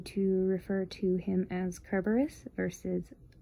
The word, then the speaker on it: Kerberos: refer to him as kerberos versus cerberus because the greek pronunciation is kerberos sort of like the